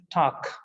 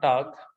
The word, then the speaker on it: Tag: the g comes at the end it is pronounced as ker so it is tak not tag it is stuck so they are targ and